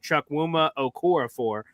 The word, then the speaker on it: Chukwuma Okorafor: I've heard a lot of people have the same take that Connor Long has, as looking at Chukwuma Okorafor, is how you pronounce it.